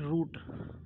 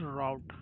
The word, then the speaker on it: route: We call it root. Okay, in Indian, but this is not correct. This is route.